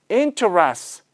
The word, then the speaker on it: interests: 그냥 하면은 발음이 interests가 되는데 T can become silent. So if you don't pronounce the T part 안 하시면 그냥 S만 남잖아요. 그러면 interests 이렇게 돼요.